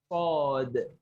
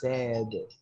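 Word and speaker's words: ص: And yeah, you say this, the S has an heavy sound. So maybe someone says sad.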